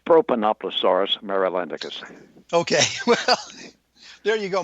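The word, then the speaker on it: Propanoplosaurus marylandicus: And the pronunciation of your dinosaur, did I get that even close? Not quite. It's Propanoploaurus marylandicus.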